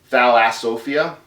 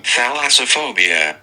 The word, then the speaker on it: thalassophobia: What's that word? Thalassophia? Is that how you pronounce it? Thalassophia, fear of the ocean. This is what I'm saying. Thalassophobia.